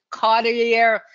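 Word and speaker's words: carteri: Boswellia cateri. Now, some people pronounce it cateri, some people pronounce it cartier. It basically depends where you are.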